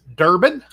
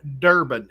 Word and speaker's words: Durbin: Durbin, from the coin channel Joe Durbin. It is spelled exactly like it sounds.